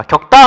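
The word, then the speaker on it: 겪다: 자, 격다 같은 경우 발음해보면 격다 이렇게 간단 말이에요.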